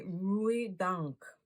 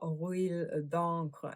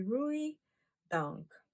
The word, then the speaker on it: Rouille d'encre: So it's actually Rouille d'encre, not Rouille d'encre as I was pronouncing it. It's actually Rouille d'encre, and that just simply means in French anchor rust.